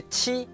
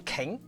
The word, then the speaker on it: qi: The qi in Chinese doesn't sound like Q in English. If you see someone's name like this, would you call them king? Well, they might be flattered, but that's not the correct pronunciation. This in Chinese actually sounds similar to ch in English words like cheese or chocolate.